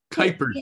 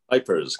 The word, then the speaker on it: Kuipers: for joining us kypers by the way kypers kypers I our family pronounces it with a long eye just kers although Dutch